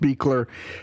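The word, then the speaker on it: Buechler: no so John Carl Beckler or beakler sorry it's it's spelled very not how it's pronounced but it is pronounced beakler and you will know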